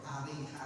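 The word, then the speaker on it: أريحا: Fafataha Ariha, maka negeri Ariha atau daerah Ariha di Fathil Ha'i wa Kasri Ra'i, yaitu dengan dibaca fathahnya Hamzah dan kasrohnya Lufroh, jadi Ariha bacanya. A-nya dibaca fathah, Rohnya dibaca kasroh, Ariha.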